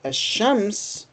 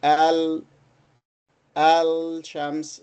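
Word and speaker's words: الشمس: Both words have got al but with ashams we do not pronounce the lamb fully. So we say ash ash aems. We do not say al shams.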